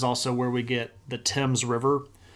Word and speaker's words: Thames: This is also where we get the Thames River, but it's spelled THAMES. Because that TH gets sort of clipped off as just a T sound.